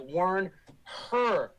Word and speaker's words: Wernher: and a short a wernher the head nazi rocket scientist guy used to be w-e-r-n-e-r now he's w-e-r-n-h-e-r like warn her okay the little yellow